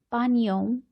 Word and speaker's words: panią: Miło mi, panią, poznać. Here, pani, on. This particular type of alphabet is pronounced as on.